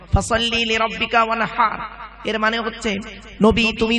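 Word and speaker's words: وانحر: ওয়ানহার নয়, ওয়ানহার, গলার ভেতর থেকে এটা উচ্চারণ হবে, ফাসাল্লি লিরাব্বিকা ওয়ানহার।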